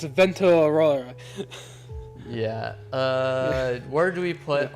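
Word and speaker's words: Vento Aureo: We're pronounced not Golden Wind. It's Vento Aurora.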